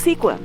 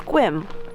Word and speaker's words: Sequim: time i saw sequim i thought it was sequin but then my friend told me it's squim it's a short walk to the water i